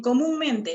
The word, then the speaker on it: comúnmente: En comúnmente la sílaba mu y la sílaba men.